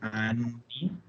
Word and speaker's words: anni: Y como siempre, sobre todo con esta palabra, ser súper catete con el tema de pronunciar las dobles. Parte muy importante del italiano es pronunciar correctamente y siempre las dobles consonantes.